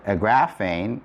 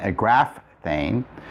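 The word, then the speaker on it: ἐγράφην: of a word, and so just for pronunciation's sake, a graphane is a lot easier to say than a graph thane.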